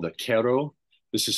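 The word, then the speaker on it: Q'ero: meet a group of indigenous people called the Quero. This is spelled Q apostrophe ERO.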